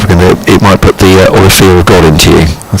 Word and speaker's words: Olivier: It's a difficult one because it looks like Olivier or Oliver, but yes, Olivier, I think we told.